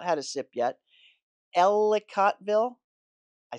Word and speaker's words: Ellicottville: Ellicottville, I said it right.